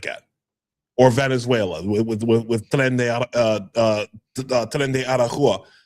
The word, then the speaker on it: Tren de Aragua: Salvador and places like that, or Venezuela with Tren de Aragua. It's going to be them, right? It's that's really the only difference. Did I fuck up the pronunciation of that? Tren de Aragua.